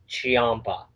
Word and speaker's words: Ciampa: I got a choppa I believe it's Tommaso Ciampa okay I'm so at least this how old was pronounced and rid of honor I'm very I Tommaso Champa Champa I've heard chiappa yeah there was a lot of difference for